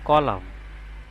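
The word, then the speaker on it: column: এখানে এন এর উচ্চারণ না আসে, এখানে হবে কলাম। এখানে এন এর উচ্চারণ না আসে, এখানে হবে অটাম।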